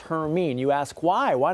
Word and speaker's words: Hermine: This thing could get the name Hermine, and yes, that's how it's pronounced, Hermine.